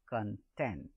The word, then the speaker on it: content: Then in an adjective, and is pronounced as content. So when it is a verb or it is an adjective, then on the second syllable, and if it is a noun, it is on the first syllable.